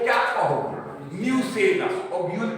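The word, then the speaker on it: nucellus: तीसरा चलिए बच्चों, न्यूसेलस। तीसरा क्या है, यहां इसका स्पेलिंग को गौर करो, न्यूसेलस। पूर्णिया के एक विख्यात बायोलॉजी के टीचर ने इसे निकुलियस कहना शुरू किया, नाम पूछना, ठीक है।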